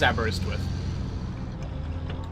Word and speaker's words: Aberystwyth: It is Aberystwyth. Okay, I'll stop myself before I get it wrong after I've already gotten it right then. I feel like people know Aberystwyth because it's like a very well-known place.